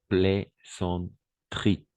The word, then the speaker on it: plaisanterie: On va prononcer plaisanterie, d'accord? Comme boulangerie, d'accord? Boulangerie, voilà. Comme bijouterie, d'accord? Comme crèmerie, par exemple. Crème, crèmerie. Alors, le E, on ne prononce pas le E, d'accord?